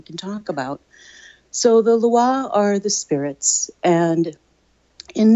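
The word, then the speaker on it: Lwa: we have to explain a little bit about Loi. Is that how you say it? I have to work on my pronunciations here. Loi.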